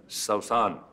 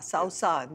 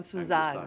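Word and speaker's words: سوسن: introduced to suzanne as saussan ah he said that that's the actual pronunciation of the name which is the arabic franchise it's the name of a wildflower saussan but eventually all the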